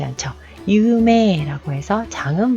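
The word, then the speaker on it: 有名: 자, 유명하다 라고 할 때 유메이 라고 발음하지 않죠. 유메 라고 해서 장음 발음으로 끌어준다는 거.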